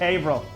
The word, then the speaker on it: Haverhill: firearms in Blue Springs Missouri battlegrounds coffee in Haverhill Massachusetts but seriously it's pronounced Averell con astride tactical in melbourne florida veteran-owned hugger-mugger